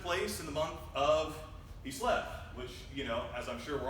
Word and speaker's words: Kislev: Kislev or Chislev, however you want to pronounce it. Got to get the guttural sound in there, Kislev.